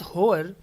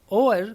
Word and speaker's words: hour: है, एट द 11th होवर, एट द 11th ओवर का हमें क्या बताना है, ईडियम बताना है। देखिए यहाँ पर होवर को हम होवर ना बोलकर ओवर बोलें क्योंकि एच इसमें साइलेंट है, तो ओवर होगा ये, एट द 11th ओवर।